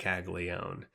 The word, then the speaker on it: Caglianone: It's much harder to say if you look at how it's spelled. I believe it's just Jac Caglianone. But if you look at how it's spelled, it's like Jac Caglianone or Caglianone.